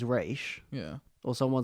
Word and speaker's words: Ra's: because I always because I always thought it was Ra's al Ghul and then I found out that it was race yeah or someone said